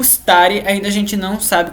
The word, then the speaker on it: stare: com um S, então a gente vai querer colocar um E na frente ou uma letra I, ficar stare ou estare, né? Mas não, a gente tem que começar a pronúncia do S, então stare.